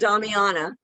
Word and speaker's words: Damiana: pronounce this one, but the leaf. Damiana.